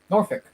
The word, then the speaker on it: Norfolk: how I say it here's how I say it Norfolk I'm in Norfolk I